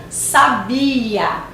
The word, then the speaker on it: sabia: Na primeira, olha a pronúncia, sábia. Na segunda, sabia.